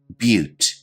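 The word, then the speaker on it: butte: the video description below our next term is pronounced a little bit differently than you might imagine but repeat after me but a but is a unique land form and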